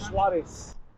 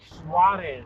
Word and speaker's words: Suarez: Suarez. Suarez.